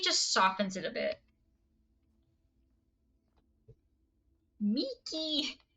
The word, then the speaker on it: Mickey: If you did, you would know that that is Mickey. That is not Mikey.